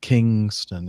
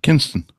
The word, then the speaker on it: Kinston: is not right and Kingston is not right either unless you're going to Jamaica Kinston Kinston you got it a battenburg there you